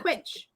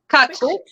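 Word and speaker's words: cwtch: You said Quitch. Kutch. Kutch like Dutch.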